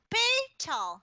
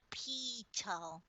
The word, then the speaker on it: Patel: oh thank you uh patel and that's pronounced it pay tall not pito got it well speak